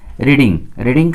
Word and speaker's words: read: हो गया, फिर V3 रीडिंग का इस थर्ड फॉर्म क्या होता है, रेड पढ़ते हैं, स्पेलिंग वही होता है, लेकिन उच्चारण केवल अलग करते हैं, तो बुक्स आर बीइंग